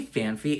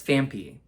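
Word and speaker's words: Phanpy: I always say fanfy. It's Fampy.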